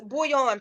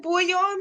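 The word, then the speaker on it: bouillon: he told us it's bullion pronounced just like the cubes used in the flavor soups I thought so I thought of being like a little crazy I'm like is it boy on like chicken and beef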